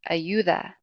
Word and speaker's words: ayuda: Ayuda. Ayuda. The emphasis is going to be on that second to last syllable.